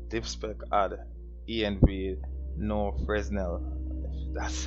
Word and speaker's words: Fresnel: I'm gonna add diff spec, add env no Fresnel. That's how it's pronounced.